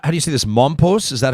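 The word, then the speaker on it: Mompox: hotels are in how do you see this mom post is that how you pronounce it that's right it's a tiny town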